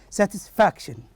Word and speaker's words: satisfaction: In the other one, the word that is satisfaction, the stress goes to the syllable that is the next to the last one, which is F-A-C, fac. Well, how do you say it here? Position, and we say satisfaction.